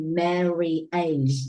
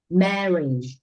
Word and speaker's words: marriage: don't we don't say Mary AG we don't pronounce this word Mary age we pronounce this word like marriage all right marriage marriage